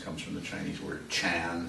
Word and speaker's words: Chan: from the Chinese word chan, sometimes pronounced jen, or chan. I don't know how you do that. How do you say that? Jen? John. John, like John and Mary.